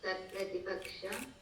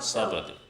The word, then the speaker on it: सत्प्रतिपक्ष: सव्यभिचार, विरुद्ध, विरुद्ध, सत्प्रतिपक्ष, विरुद्ध, सत्प्रतिपक्ष, प्रतिपक्ष, बाधित, असिद्ध, sorry Swamiji, सप्रतिपक्ष, not सत, सत, and सत, सत, सत, सत प्रतिपक्ष, not सप्रतिपक्ष, सत प्रतिपक्ष, then asiddha and badita, asiddha and badita.